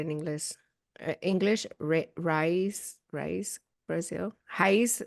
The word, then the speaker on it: Raiz: Raiz, like rice, like roots. Oh, Brazilian roots. Yeah. Raiz Brazil. Hmm. Highs Brazil.